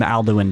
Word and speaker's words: Alduin: Maybe perhaps next time Alduin dies, you'll have more time. Can we clarify how you're pronouncing that name?